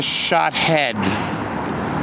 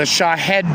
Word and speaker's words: Shahed: What is a shot head? Not a shot head. A shot. The shahad drone.